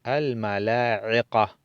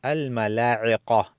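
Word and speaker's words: الملائكة: En cambio, la parte de arriba, al-mala'iqa. El ain, pronunciamos la I, y la qa, no K. Entonces decimos al-mala'iqa, i'qa, i'qa.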